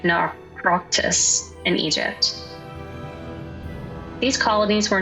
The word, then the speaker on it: Naukratis: Even North Africa saw Greek colonies, like Naukratis (NAW-krah-tiss) in Egypt These colonies were not mere outposts.